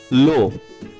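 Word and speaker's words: la: লো এল ই এটার উচ্চারণ হবে লো, এল এ লা লা, এল ই এস লে।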